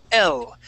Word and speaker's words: L: Okay, so for example, listen how you say the letter L. Okay, it doesn't start with a consonant sound. It actually starts with a short E sound. L.